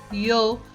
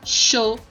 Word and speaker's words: yo: Yo significa eu, que pode ser pronunciado yo, show.